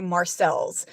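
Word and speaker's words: Marseilles: I ask local people how to say it, and most of them will say Marcel's. But the Marseille. French Okay. way, there is a Marseille.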